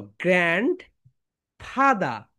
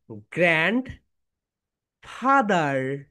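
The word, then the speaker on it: grandfather: British sound হচ্ছে গ্র্যান্ড ফাদা। দাদা, দাদার ইংরেজি কি বলো তো? গ্র্যান্ড ফাদা। ব্রিটিশ সাউন্ড একটু করো। গ্র্যান্ড ফাদা, গ্র্যান্ড ফাদা, গ্র্যান্ড ফাদা, গ্র্যান্ড ফাদা, গ্র্যান্ড ফাদা। ওকে, এখন আমরা আমেরিকান সাউন্ডটা শিখবো। বলো গ্র্যান্ড ফাদার, গ্র্যান্ড ফাদার, গ্র্যান্ডফাদার, গ্র্যান্ডফাদার। Excellent.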